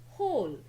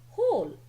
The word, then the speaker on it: whole: Now we will be starting with whole. Students, W is silent in this word. That's why it is called a whole.